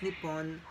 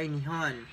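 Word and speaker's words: 日本: So Japan, pronounced in Japanese as Nippon or Nihon, is a specific ocean island nation of the coast mainland in Asia.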